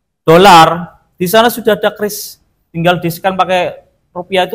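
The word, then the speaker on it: QRIS: Dan alhamdulillah ee karya anak bangsa kita menciptakan kris bukan quiris atau kris. Jadi bacanya kris memang kris ini ee Amerika itu sampai marah ya karena apa visanya mereka ee dengan mastercloud-nya itu tersaingi.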